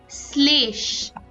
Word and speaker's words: শ্লেষ: এর মত হয় যেমন শ্লেষ এখানে তালব্য স এর সাথে ল যুক্ত হলেও উচ্চারণটা কিন্তু এস এর মত বা দন্তস এর মত হয় একইভাবে অশ্লীল এবারে আমরা